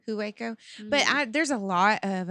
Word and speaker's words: Hueco: may 14th and 15th i'm going to say you got it right because it's waco texas and waco hueco but there's a lot